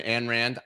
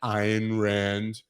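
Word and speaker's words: Ayn Rand: has anybody ever read an anne rand iron rand depending on how you pronounce it a book you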